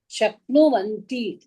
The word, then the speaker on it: शक्नुवन्ति: When u and a will come together. Titaha anti danema. Ah, madam. Titaha So that anti. So that a will become here va. Because you cannot say nuvanti.